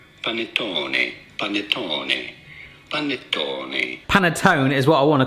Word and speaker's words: panettone: pronouncing it in italy in italian it is normally said as panettone panettone is what i